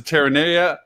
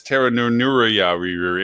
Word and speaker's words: Terranea: That's the same person that referred to Terranea Resort as Terranuria. It was like an extra 7 syllables on it or something.